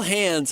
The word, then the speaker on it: Hans: Is you call Hans Hans, but it rhymes with the word plans.